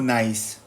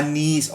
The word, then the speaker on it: Nice: Nise ba yun o nice? Nice ba yun Sister Milan? Ano? Nise ba yun o nice? Ano bang pronounce diyan? Nise ah niece.